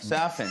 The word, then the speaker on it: Safin: Your villain is called, is it pronounced Lucifer, Safin? Lucifer. Lucifer. That's good. Safin, yeah.